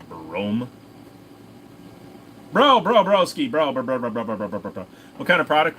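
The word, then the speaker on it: Brougham: A Broham Lincoln, my buddy used to call them Brohams. For those of you that don't know, if you have a Cadillac Broham, it's actually pronounced Brome.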